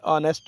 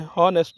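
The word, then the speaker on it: honest: इसी तरह ऑनेस्ट, H को साइलेंट करना है, ऑनेस्ट बोलना है, हॉनेस्ट नहीं बोलना है।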